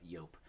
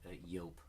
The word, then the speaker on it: Joop!: I'm pretty sure it's yoke so you guys can comment down below let me know if it's different but I'm pretty sure it's pronounced yoke and so this one is